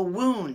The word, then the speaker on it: wound: it's wound you know like an injury a wound you can wind a bandage around a wound